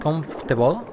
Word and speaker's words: comfortable: We wish you a pleasant and comfortable stay with us. Comfortable. Se dice comfortable, ¿eh? Esa palabra, hay mucha gente que dice comfortable, ¿vale? Pero no, es comfortable. Que hay mucha gente que lo pronuncia mal.